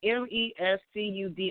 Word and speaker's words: Mescudi: So I'm trying to see how I pronounce his name. Is it Mescudi? It's Mescudi.